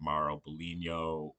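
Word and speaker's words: Mauro Biglino: But we were talking about it yesterday and looking at some of the work of Maro Bulino, uh that's how you pronounce his name.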